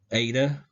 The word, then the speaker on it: eta: And we'll go over pronunciation a little bit more again, but again, zeta is Z sound, eta, A sound, just like it says, eta, A.